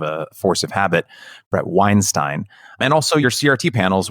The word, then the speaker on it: Weinstein: I realized I mispronounced his name the first time. It's kind of a force of habit. Brett Weinstein.